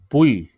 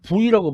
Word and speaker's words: buoy: 그래서 이게 원래 발음이 이게 보이거든요. 그러니까 유가 묵음이에요. 그래서 원 발음은 보이인데 예, 미국 사람들은 자꾸 부이라고 발음해요. O가 무음인 걸로 잘못 알고 있어가지고. 그래서 영국식 발음으로는 보이만 맞고 미국식 발음으로는 보이, 부이 다 맞다고 그래요.